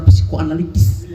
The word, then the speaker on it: psikoanalitis: secara psikoanalitis, analitis, ya. Ini dengan pengucapan suku katanya harus jelas. Psikoanalitis. Nah itu.